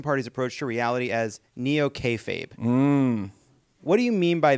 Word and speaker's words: Neo-Kayfabe: In your book, you describe the Republican Party's approach to reality as Neo-Kayfabe.